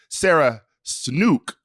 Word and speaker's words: Sarah Snook: Wait, you saw, by the way, Sarah Snook is how we pronounce her name.